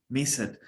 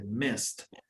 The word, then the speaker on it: missed: español y cuando escuchamos pareciera que dice trick it, play it, miss it. No. La E es muda y la última letra es la que se pronuncia, aunque sea consonante. Missed, tricked, played.